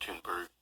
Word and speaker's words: Thunberg: He did in fact confirm that it is Thunberg. It is pronounced Thunberg.